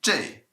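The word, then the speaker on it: 这: thing and we mentioned also that there's an alternate pronunciation for each of them we can say jay nay and nay all right how are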